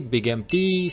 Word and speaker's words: Big MT: The place being called Big Mountain, which is shortened to Big MT, and if you pronounce things quickly, Big MT sounds like Big Empty, which is very apropos